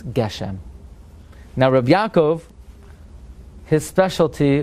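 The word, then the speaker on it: גשם: in the Hachroza it's Goshem. Say Mashav Ruach Gashem, but don't say it. Say Geshem. Says Rabbi Yaakov, since that's the end of his sentence, that's how it's pronounced in that sentence.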